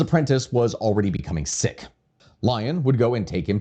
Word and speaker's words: Lyon: by the name of Patrick Lyon, or Leon, I guess. It's more likely pronounced Lion, considering the Americanization of all of it here.